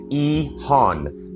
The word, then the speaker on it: EHON: Quick note when I say Ehan I'm pronouncing it Ehan short for expanding housing options in neighborhoods.